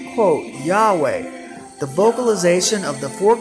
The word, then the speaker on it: Yahweh: 680 states emphatically quote the true pronunciation of the name YHVH was never lost several early greek writers of the christian church testified that the name was pronounced yahweh or the personal name